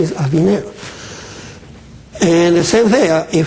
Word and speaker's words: Aviner: It's not polite if somebody presents you, listen, my name is Aviner. And he says, Aviner or Avunar? You say, oh gosh, this guy, no, my name is Aviner.